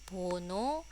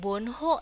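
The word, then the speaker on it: 번호: Bono itu artinya nomor. 보노가 있습니다. Ini diakhiri dengan vokal. Nah, penyebutan atau pelafalan bukan bonho ya, tapi bono. Bono ya, jadi hanya hilang bono.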